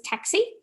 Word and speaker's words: TCSI: I'm sure you already know what taxi is. However, I'm going to briefly introduce the topic and then go into the transition details. So TCSI stands for Tertiary Collection of Student Information, pronounced as taxi.